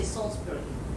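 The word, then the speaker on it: Salisbury: british in england rather when you pronounce the name like solitary you don't say is is you say salzburg it's s-a-l-s-p-u-r-y softly planes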